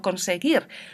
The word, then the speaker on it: conseguir: Si tengo la E o la I, escribo la G con la U. Esta U no se pronuncia, solo me dice que tengo que pronunciar suave. Yo no digo llegué, sino que digo llegué. Yo no digo conseguir, sino conseguir.